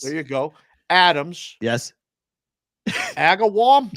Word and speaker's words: Agawam: Agawam.